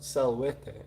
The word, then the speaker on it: salvete: now um novus says salvete pronounced salwete oh my apologies uh